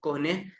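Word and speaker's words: Kühne: फिर 1877 में एक 1877 में साइंटिस्ट से विलियम कोहने या विलियम कॉन, इसको विलहेम कॉन मल्टीपल इसकी प्रोनाउंसिएशन है।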